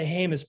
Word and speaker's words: Jemez: my two colleagues that you think about the jemez principles which were established in 1996 by the environmental justice community and jemez is spelled j-e-m-e-z and that is to allow the